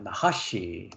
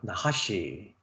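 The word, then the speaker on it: נָחָשׁ: 나하시 발음을요. 나하시.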